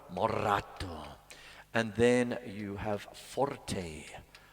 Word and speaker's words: moderato: And then you have moderato, got to roll your R, moderato.